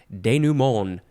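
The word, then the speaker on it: dénouement: next word it is I think you can emphasize that one instead denumon that's how I've heard it pronounced it is spelled D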